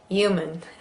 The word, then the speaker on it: human: Human. Or if you're in New York, human. But for standard, human.